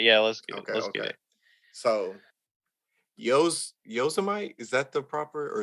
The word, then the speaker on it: Yosemite: You know who else pronounced it that way? Who? Donald Trump. When they gaze upon Yosemites, towering sequoias.